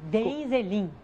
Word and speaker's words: Deheinzelin: Lala, como é que eu pronuncio o seu sobrenome? Como escreve? Denzelin.